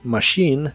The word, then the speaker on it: machine: una d vibrante y la ch de Machine se pronuncia como si fuera una sh y la i de